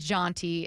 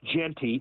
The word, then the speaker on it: Jonty: Boise State pack Beyond jonty in terms of what Washington state is going to have to overcome it's it's actually pronounced Genty Genty um Genty um they have